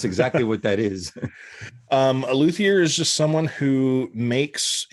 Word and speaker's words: luthier: So you are a luthier. Is that how you pronounce it?